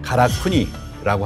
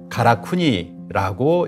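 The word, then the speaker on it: 辛国: 발음은 가라쿠니라고 합니다.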